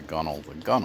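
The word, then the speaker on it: gunwale: So I don't know why they call them inwales and outwales, but the gunnel, because it's spelled gun whale.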